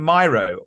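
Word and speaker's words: Miro: with her work in myo or Meo depending on how you pronounce it so RS with hero Meo rhymes with hero and she and funny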